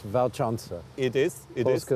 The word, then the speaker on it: Walcząca: is pronounced like a V in English, Walcząca. It is, Polska Walcząca.